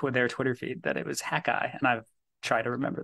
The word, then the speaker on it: Hakai: around the Mississippi Delta the article ran in hakai magazine and I hope I'm saying that name right welcome to the podcast boys thank you it's great to be here it is actually pronounced hackai which is I had been pronouncing it long